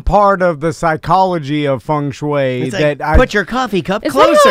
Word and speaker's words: feng shui: There is some part of the psychology of feng shui put your coffee cup closer. Is that how it's pronounced? Because it's spelled F-E-N-G. Yeah, it's feng shui.